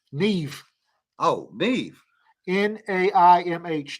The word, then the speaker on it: Maeve: in Ireland Neve y'all look how that's spelled yeah m-a-e-v-e Neve oh Neve n-a-i-m-h Neve